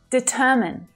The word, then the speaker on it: determine: Determine, determine, not determine, all right? That last syllable is unstressed. The vowel sound is short, reduces right down.